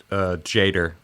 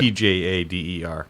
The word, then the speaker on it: Tjader: Yeah, I'd say Cal Jader. Yeah, that sounds about right. Tjader. Probably a silent T.